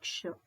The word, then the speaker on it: क्ष: उसको ओडिया में क्ष कहते हैं। हिंदी में उसका सही प्रोनाउंसशन है क्ष।